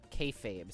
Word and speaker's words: kayfabe: Kayfabe is so interesting. Is that how you say it? Hold on. I'm gonna Google this just to make sure I'm not speaking out of my butt. Kayfab? Kayfabe. Kayfabe.